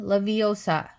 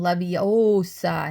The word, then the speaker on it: Leviosa: "Wingardium Leviosa," he shouted, waving his long arm like a windmill. "You're saying it wrong," Harry heard Hermione snap. "It's Wingardium Leviosa, not gar, nice and long."